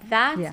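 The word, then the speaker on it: ذات: But that in Arabic means self. Okay. And you just pronounce it that.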